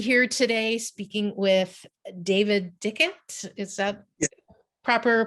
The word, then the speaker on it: Dickhut: I'm happy to be here today speaking with David Dickhut. Is that proper pronunciation of your name? Pretty close, Dickhut.